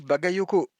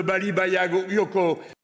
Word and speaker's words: Bagayoko: Euh, je sais très bien le prononcer contrairement à certains de Baliago Yoko.